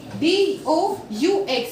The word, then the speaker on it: doux: DOUX is do. Now the meaning of woo is you all, nu is we, do's is soft, and do is also soft.